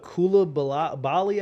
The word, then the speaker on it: Coulibaly: My team drafted Victor Wembanyama's teammate, not him, Bilal Coulibaly, I believe is how you pronounce his last name.